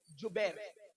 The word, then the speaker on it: جبیر: پر 50 صحابہ کو عبداللہ ابن زبیر نہیں بلکہ جبیر، جیم سے جبیر، تھوڑا سا آج کل